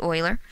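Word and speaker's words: Euler: e is known as Oiler number after the guy who discovered it Oiler and I know it's spelled uler but it's pronounced Oiler and E is approximately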